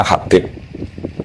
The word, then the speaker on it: Habib: Itu di harakatnya kitab itu ada yang nulis khubb. Tapi yang benar oh nggih. Yang benar itu bacanya Habib.